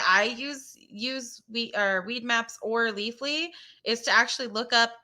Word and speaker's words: Leafly: My question is it Leafly or Leaf Fly? Leafly.